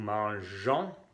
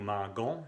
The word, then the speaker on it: mangeons: Nous mangeons, y aquí viene la E enfrente del sonido on, porque si no, cuando la G está enfrente de la O sería gon. No será nous mangons, sino nous mangeons.